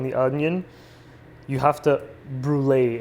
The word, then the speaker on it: brûler: onion, you have to brûler it, or brûler, like it's pronounced in French.